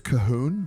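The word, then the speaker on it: Colquhoun: It's Cahoon, but it's spelled C-O-L-Q-U. And you don't say the L, the Q, or the U.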